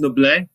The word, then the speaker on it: Noblit: It's pronounced Noblit. It's French. It's French. And my name is misspelled, but it got Americanized to IT, but it's supposed to be Noblit.